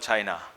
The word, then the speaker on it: Qin: In 200 BC, there was no country called China. China then was divided into small kingdoms, fiefdoms, and it was not united. There were warring states in China. In a small feudal state called Qin, pronounced Chin, the feudal lord or